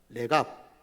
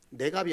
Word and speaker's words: 레갑: 레갑. 예. 경상도 사람이라서 발음이 안 좋을 수 있습니다. 내갑이 아니고 러의 이 레위기 할 때 레갑 족속.